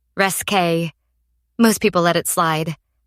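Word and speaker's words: risqué: "When I said risque, you said it the French way, resque.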